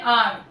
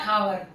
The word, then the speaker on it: hour: इसको क्या पढ़ते हैं, आर, नॉट हावर। वो कई सारे बच्चे इसको हावर पढ़ते हैं, एच साइलेंट होता है, इसको क्या पढ़ते हैं, आर।